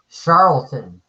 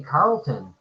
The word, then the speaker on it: Charlton: how it's pronounced so it could be Carlton or Charlton I've always told Charlton yeah yeah like you said Joe Manley Charlton Charlton I heard somebody say Carlton oh you just mispronounced it okay yeah I thought it was Charlton because of the H you know but I